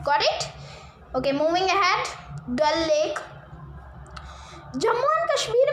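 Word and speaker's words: Dal: तो डल लेक, डल आप बोलिए, प्रोनाउंस करिए, ऐसे आपको समझ में आएगा।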